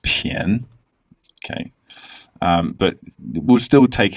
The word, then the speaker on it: 便: And as far as I know, this is the only word where bien is used where it's pronounced pian.